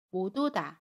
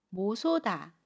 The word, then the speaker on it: 못 오다: 듯이 모음 자리로 가서 모두 다 라고 발음합니다 모두다 여기에서 뭐 소다 라고 발음하지 않아요 이 부분은 조금 더